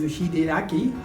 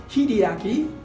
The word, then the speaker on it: Hideaki: way to the hachiko my japanese name is hideaki but he called me hideyaki haidiyaki she said it's so